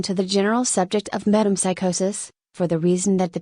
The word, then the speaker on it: metempsychosis: the process of metempsychosis pronounced meat temp psychosis which is more commonly known as reincarnation or reinvent it becomes necessary at this point to call your attention to the general subject of metempsychosis for the reason that